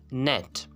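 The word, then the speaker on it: gnat: अगर किसी लफ्ज़ में एन से पहले जी आता है तो ये जी क्या होगा, हमेशा साइलेंट होगा। जैसे कि आपके पास कुछ एग्जांपल्स हैं। नेट, नेट, मच्छर को हम कहते हैं नेट।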